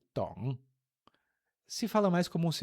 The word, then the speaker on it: 懂: 我 terceiro tom, 不 quarto tom, 懂 terceiro tom. 我不懂，我不懂. E o D, 懂, é bem suave, é quase um T em português.